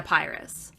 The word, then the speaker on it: Pyrrhus: But then, how do you say his name? Pyrrhus? The son? Yeah, the worst. Yeah, not Paris. It was really confusing because there's a Paris and a Pyrrhus.